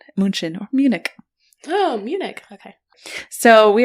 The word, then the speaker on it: Munich: we got upper Bavaria near I almost said munin munin or Munich oh Munich okay so we are going to